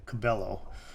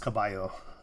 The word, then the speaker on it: Cabello: if you don't speak if you don't understand spanish you might say camellia cabello um but it'd be pronounced kabayo um so her music